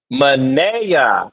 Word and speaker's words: Manea: The name rhymes with day. So it's Manea.